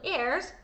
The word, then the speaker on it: heirs: I want to say hair like pronounce the H every time I say that word, but I know in